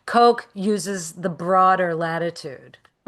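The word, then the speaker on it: Koch: I use Coke, which is spelled K O C H. Coke. Coke uses the broader latitude.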